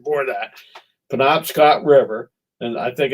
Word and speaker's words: Penobscot: to the top and and it's uh the penobscot and that's right that's the right pronunciation for that penobscot river and i think it's a predom scot